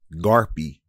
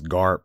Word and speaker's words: Gharpe: And yeah, I could pronounce it as Garp, but that would be wasting that well-placed E right at the end.